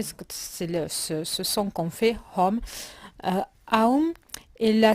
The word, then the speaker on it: Aum: Sa prononciation est nasalisée en fin de mot et les lettres forment un triangle qui renferme toutes les possibilités du son.